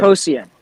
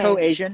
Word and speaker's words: Coasian: Coasian. I could explain the Coasian. name. So it's not okay. Co-Asian. It's Coasian because it's Coasian. named after the economist Ronald Coase.